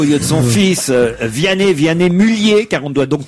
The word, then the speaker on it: Mulliez: Vous avez affronté Jérôme Bonaldi dans une querelle concernant les Mulliez, car on ne prononce pas le Z de Mulliez dans la famille, vous savez, la famille Auchan.